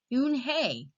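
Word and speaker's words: Unhei: It's pronounced Eun-hye."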